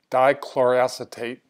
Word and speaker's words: dichloroacetate: to the vlog post about make sure I pronounce this correctly dichloro acetate I will refer to it simply as DCA